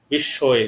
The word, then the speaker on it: বিস্ময়ে: বিস্ময়ে, তোমাদের মনে আছে উচ্চারণটা হবে বিস্ময়ে, বড় শিকার তালিবর্ষ, তালিবর্ষ কার অন্তস্থীয় বিস্ময়ে।